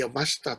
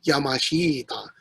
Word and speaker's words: Yamashita: of february now uh the stories about the abashta treasure which uh the americans mispronounced as yamashita actually if you're if you know japanese a